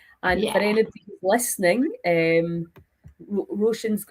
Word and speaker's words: Roisin: And for anybody listening, um Roshan's how do you say your name? Roshan. Roshene.